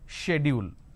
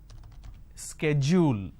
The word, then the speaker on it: schedule: The British pronunciation is schedule and American pronunciation is schedule.